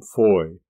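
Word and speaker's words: Fowey: former hailed from plymouth the latter from foy or as we spell it nowadays f-o-w-e-y now both ramatham rise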